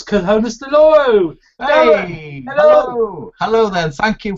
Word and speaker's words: Conesdeloro: community and also the C in konus it's konus Doro hello hello then thank you for pronouncing my name correctly as many struggle I